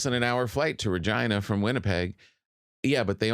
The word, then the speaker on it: Regina: And Regina, which their slogan is Regina, it rhymes with fun.